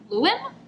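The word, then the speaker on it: Llywelyn: illegitimate daughter Joanna Mary's Lewin that's how you pronounce it Lewin Prince of North Wales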